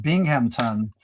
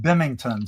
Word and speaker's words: Binghamton: So, Listen, up here in northeastern Pennsylvania, we have a place in New York called Binghamton, but a lot of the folks around here call it Bimington.